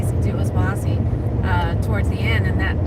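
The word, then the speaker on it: Si Yu'os Ma'åse: it, most of the time I do say Sidruis Masi towards the end, and that just means thank you in Chamorro, which is the language we speak in Guam. Hafaday, that's how you say hello, and Sidruis Masi is how you say thank you.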